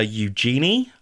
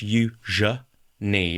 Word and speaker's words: Eugenie: Um, a lot of people call her Eugenie or Eenei or Eenei. It's none of those. It's yuja ni. It's the middle syllable that really trips people up.